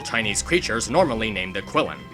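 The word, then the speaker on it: Qilin: creatures normally named the quillin although their name is pronounced and spelled differently depending on what version you're referring to quillin in Chinese Kieran in Japanese and so on I really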